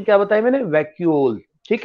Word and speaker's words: vacuole: These okay, are तो pronunciation क्या बताया मैंने? वैक्यूल.